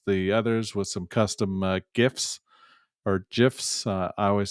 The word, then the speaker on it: GIF: It's GIF with a gosh dang G.